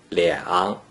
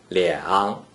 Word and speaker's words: 两: When a single digit 2 is in the first green circle position without any other digits, it is pronounced 两, 两, 两 is the third tone.